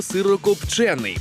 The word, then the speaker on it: сирокопчений: на сьогодні смачне слово сирокопчений сподіваюсь ви ж в курсі що правильно саме звук е наголошувати сирокопчений сирокопчений сирокопчений сирокопче а